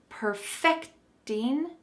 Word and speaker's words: perfect: a similar idea but when we use this as a verb to perfect something there is a different emphasis in pronunciation so let's practice this my dad is perfecting his apple pie recipe the emphasis is on the end of this word but if you say